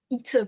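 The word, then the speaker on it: η: I suppose the passage I quoted with the you pronounce "ita" by opening your mouth as far as your ears is indeed, yes, is closer than they mostly get to some sort of articulatory description.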